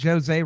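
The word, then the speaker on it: José: Uh Tyson, I'm not pronouncing Jose wrong. Like it's not Spanish. He's Brazilian. They pronounced the actual J in and Portuguese apparently.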